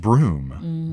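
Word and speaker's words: Brougham: famous castle it's a looks like bro gum BR 0 ugh am but it's actually pronounced broom broom and one that pronounced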